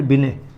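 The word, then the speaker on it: Binet: अंग्रेजी में इनको ऐसे लिखते हैं, अल्फ्रेड बिने। इसमें आगे टी लगती है, वो साइलेंट रहती है।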